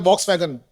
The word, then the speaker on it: Volkswagen: National company tribal and clatt company tribal in the case of Foxswagen in India we pronounce it as a box wagon and clad Delhi in case of Volkswagen finance limited held that held that this charge also requires registration with ROC.